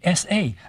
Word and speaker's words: sa: of a duck, merely is there because it's pronounced S-A.